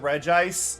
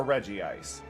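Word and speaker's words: Regice: Giovati, I would go with Reg Ice or Reggie Ice, but I believe the official pronunciation is Regis.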